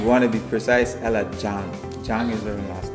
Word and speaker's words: Zhang: And I think if you want to be precise, Ella Zhang. Zhang is her last name. Okay, thank you for helping me my pronunciation. Yeah, it's with a Z, ZH, so I said Zhang.